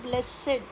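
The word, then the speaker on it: blessed: Next है ब्लेसेड। जब noun adjective होता है तब जाता है ब्लेसेड।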